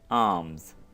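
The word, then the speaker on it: alms: arms, arms, ये word आप पढ़ेंगे arms, यहाँ पे एल को आपने प्रोनाउंस नहीं करना है।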